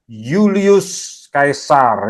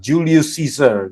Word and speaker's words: Julius Caesar: dari nama keluarga siapa Yulius Kaisar ya saya baca dengan cara orang romawi Ya mereka bacanya Yulius Kaisar kalau sekarang kita sering baca Julius Caesar gitu ya itu cara baca Inggris ya ini orangnya nih